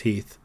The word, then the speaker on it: Heth: to come meanwhile confess fate Major General Henry Heth was on his way to W Le pronounced Heath when his Force stumbles upon that of Union